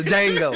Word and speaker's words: Django: They see the shit in movies, from Harriet Tubman to motherfucking Django to all this shit, bro. Roots. Django, we see this shit, bro. The D is silent, nigga. The Django, motherfucker.